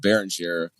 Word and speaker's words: Beringer: Uh, by the way, is it Baron Jay or Baroner? I've heard announcers use both. It's uh it's Baron. Baron. Yeah. Yeah. Is the French pronunciation.